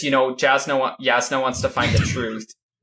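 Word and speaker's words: Jasnah: Yasna. Yasna. Sorry. There you go. You got it. This is a preview seems for the to- pronunciation podcast where Matt continually says Jasna.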